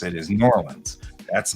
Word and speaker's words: New Orleans: to pronounce it is New Orleans that's not the way they pronounce it in New Orleans right well in Texas they were squishing the two words together to make it New Orleans so it's like n-o-r-l-e